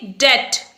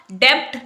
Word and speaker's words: debt: इस वर्ड देखिए DEBT, इसे हम बोलेंगे डेट। यहां पर बी साइलेंट होगा, डेब्ट नहीं बोलेंगे।